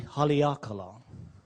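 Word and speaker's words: Haleakalā: So phonetically, maybe ha, yes. Li, okay, it's ha, li, a, ka, la. E Haleakala.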